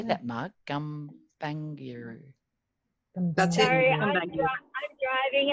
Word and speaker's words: Gumbaynggirr: Gumbaynggirr.